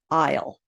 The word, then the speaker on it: I'll: And that LL you pronounce kind of like ul, I'll, you'll, he'll, she'll, it'll, we'll, they'll.